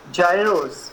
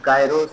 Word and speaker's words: gyros: Gyros, for example, is considered by Greeks junk food. This is sometimes pronounced as gyros or gyros, both ways is okay.